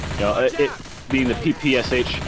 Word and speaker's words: PPSh: know it being the ppsh i usually pronounce it as like a word hence the sound i made good stuff all